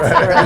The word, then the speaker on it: Berlin: like Merlin. It's Berlin. Yeah, She so says it's Berlin. Maybe- It's one, not 2 syllables, not Berlin.